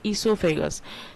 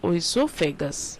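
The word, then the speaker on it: oesophagus: That is known as इससोफेगस। Spelling ई से नहीं ओ से चालू होता है। ओ साइलेंट है। तो इसलिए उसका नाम है ओसोफेगस या इससोफेगस।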